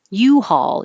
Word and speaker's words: U-Haul: just saying hall hall u-haul is the brand name and the stress is on you u-haul we could rent